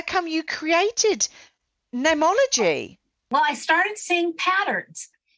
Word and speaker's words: Neimology: It's Neimology, but it's spelt funny because okay. I couldn't trademark a common word like name, N-A-M-E. Yeah. So in Latin, the word for name is N-E-I-M. Okay. So I spelt it Neimology, but with the Latin spelling.